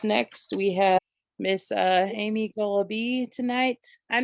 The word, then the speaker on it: Goloby: Up next, we have Miss Amy Goloby tonight. I'm not sure how to pronounce your last name. How do you pronounce your last name? Goloby. It rhymes with Goloby. wallaby.